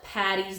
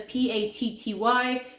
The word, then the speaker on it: Paddy: Paddy's Day, it's actually Paddy, like Padraig. This is an A, if you can't. Padraig. And Padraig is Patrick. And Paddy is Paddy for Padraig, St. Patrick. So when you want to wish your friends Happy St. Patrick's Day or Happy St. Paddy's Day, be sure to use the D's, the double D's, not the double T's, because Patty is short